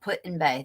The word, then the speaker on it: Put-in-Bay: my uh oh yeah somebody wrote it up Put-in-Bay that's how you say it um hi Pammy